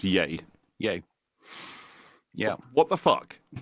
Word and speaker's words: Ye: legally changed his name to just y yay pronounce yay yay yeah what the that